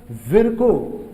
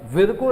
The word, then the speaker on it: Virchow: Rudolf विर्को, VIRCHOW, है ना, कुछ लोग विर्चो पढ़ते हैं बट विर्को इज the correct pronunciation.